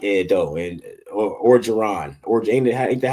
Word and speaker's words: Orgeron: LSU, I like Ed though, and Orgeron, ain't that how you say it?